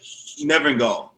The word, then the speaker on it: Nevergall: Nevergall.